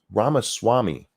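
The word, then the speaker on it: Ramaswamy: learned how to say it but Vivek ramasami Rama Swami I'm saying his last name right but the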